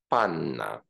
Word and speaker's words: Panna: is a Polish word Panna and because N is a sonorous consonant these two consonants should not be re-articulated but elongated so again the word is pronounced Panna the second example we